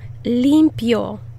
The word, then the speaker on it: limpio: Put the emphasis on the first syllable. Yo limpio.